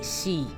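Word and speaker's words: 死: El número 4 en japonés se puede pronunciar como Jon, pero también como Shi, que suena exactamente igual que Shi, que significa muerte.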